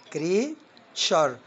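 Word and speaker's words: creature: الكلمة اللي بعديها كريتشر، كريتشر يعني مخلوق.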